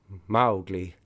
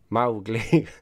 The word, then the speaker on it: Mowgli: to rhyme with mo to rhyme with cow so it's cat so it's Mowgli is that right cow Mowgli Mowgli not Mowgli Mowgli that's